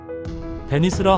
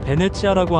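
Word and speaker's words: Venezia: 베네치아를 흔히 베니스라 하고 있으나 이탈리아 본토 발음으로는 베네치아라고 한다.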